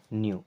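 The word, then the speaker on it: know: पंडित शारदानंद जी न्यू, न्यू means जानते थे, यहाँ पे के साइलेंट होता है, न्यू मीन्स जानते थे,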